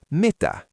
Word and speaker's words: Mitä: Mita student.